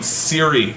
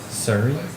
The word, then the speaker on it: Siri: And mispronounced Siri. Sorry. Surrey? Sorry, No, Siri. no mammy.